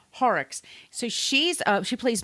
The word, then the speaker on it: Horrocks: assistant which is Jane I always say her name wrong James hyrux Horrocks horror yeah Horrocks so she's uh she